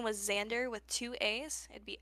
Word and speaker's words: Xaandr: Mm, But his name was Xander with two A's. It'd be XAANDR. But the second A is silent, and he had your name tattooed on his rear.